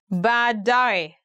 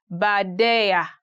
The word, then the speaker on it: baadaye: Today we are going to look at 10 hardest words to pronounce in Swahili. Baadaye, later.